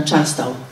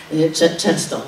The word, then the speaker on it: Charleston: to zostało zmienione na Charlestown. Charleston właściwie tak się powinno wymawiać, które już odbiega od